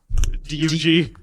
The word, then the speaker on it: Doug: DUG. Dugg, Doug. like Dig Dug.